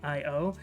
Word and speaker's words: Io: Next up, the penultimate character is Io, or Io, I-O. I always pronounce it Io.